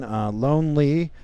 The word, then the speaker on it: Lonelee: Lone Lee.